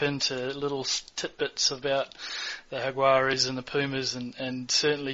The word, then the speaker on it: Jaguares: Of course, Jaguares. Jaguares? Yes. George Regan does a nice Jaguars, and Phil Kearns tries to pronounce it a completely different way.